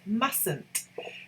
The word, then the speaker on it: mustn't: you pronounce it it's mustn't john must the t the first t is a silent t john must stay mustn't